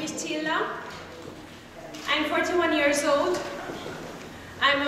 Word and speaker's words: Csilla: I would like to bring to the stage Csilla. Is that how you say it? Yes. Csilla. I hope I pronounced that right.